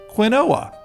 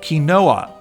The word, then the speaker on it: quinoa: And the oa ending should be just like the Italian town of Genanoa, right? So, Quinoa, not so fast. Turns out it's actually from the South American Andian Kachua language who pronounce it Kinoa. Okay, so I wasn't that far off. However, this then got filtered through the Spaniards because imperialism and then to English, which became quinoa, WTF.